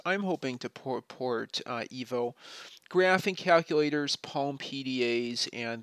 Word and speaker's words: 1v0: of Nino Ivanov's programming language called 1v0 or as he pronounces it, uh, EVO.